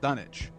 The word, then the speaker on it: Dunwich: Dunwich in England and it was pronounced dunnage and there are places